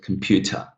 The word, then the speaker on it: computer: The syllable that I'm stressing here, how many syllables do we have? Computer. Right, we've got 3 syllables. The syllable that I'm stressing here, the second one, pew, is longer. Now listen to these syllables, first and third. Computer, computer, computer. Now, these are pretty short. Now, pew becomes much longer than the other two.